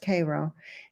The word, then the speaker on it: Cairo: And she has, they have a beautiful farm up in Cairo, not pronounced Cairo, it's pronounced Cairo.